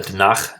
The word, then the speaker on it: Tanakh: bible is called the tanakh or it's uh has a little guttural sound at the end it's also known as